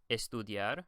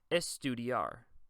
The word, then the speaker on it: estudiar: When you pronounce these words, remember that it's not estudiar. It's going to be estudiar, diar. This D-I-A-R is almost like one sound.